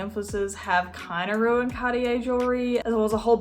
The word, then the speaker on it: Cartier: being cartier jewelry cartier i literally watched a french do on youtube explain me how to pronounce it like two minutes ago so he said cartier i'm gonna go with that if you don't know